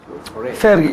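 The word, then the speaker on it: פרי: Boreh Peri Hagefen, but Sephardi should say Baruch atah Hashem Olam Boreh Peri Hagefen. Bottom line, Boreh Peri Hagefen. Okay? That's more accurate. The original pronunciation was Fe, not Re. Feri. We're saying Feri.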